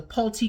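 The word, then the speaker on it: Pulte: Brothers in there Home Depot William Sonoma the polti group it's got Owens Corning in there which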